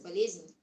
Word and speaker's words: болезнь: In Russian, the word illness is pronounced as болезнь, and it has this part in this word called bol, pain.